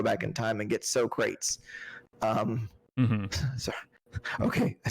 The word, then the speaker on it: Socrates: We can't, do like a Bill and Ted's Excellent Adventure, jump in a telephone booth, go back in time, and get Socrates.